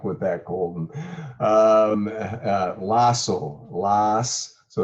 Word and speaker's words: Lossow: one more thing how do you successfully correctly pronounce your last name you bet good luck with that golden um uh lasso so it's just like the first last and